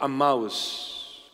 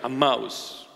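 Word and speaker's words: Emmaus: those two friends were walking to a mouse that's a proper pronunciation a mouse those two friends that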